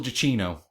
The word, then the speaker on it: Giacchino: I also found out though from producer Jonas Rivera, who produced the film, that the name of the musician is Michael Giacchino. That's how you say his name.